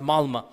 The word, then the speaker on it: Malmö: And in Stockholm, if you have 10% Muslim, I was in the city of Malmö, it's spelled with an O, but it's pronounced Malmö.